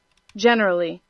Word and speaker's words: generally: Generally.